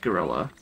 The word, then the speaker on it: guerrilla: I looked it up. It is a Spanish word. How do the Spanish pronounce it? Guerrilla. But the English word is pronounced gorilla, and you're supposed to say gorilla, so fine, even though